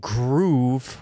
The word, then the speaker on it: Gruv: Apparently, it's Groov. Come on. Give me a break. It looks like Groov. Okay, gruv. What does that look like? Okay, but you guys win. I'll say it right.